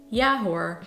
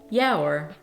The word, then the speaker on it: ja hoor: the way pronunciation tip people tend to really combine the "hoor" with the word they use before it so it's not "ja" "hoor" but "ja hoor" Number eight on this